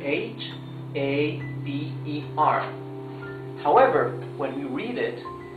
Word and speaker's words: haber: That's because in Spanish, letter H is totally mute. So, we don't pronounce the H. We only pronounce haber.